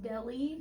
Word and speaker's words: Delle: Okay, I've heard two things. I've heard it's pronounced Deli. Yes, and Dell. yes. See, I struggled with that. So some of the interviews from back then, they said Deli, but most people say Dell.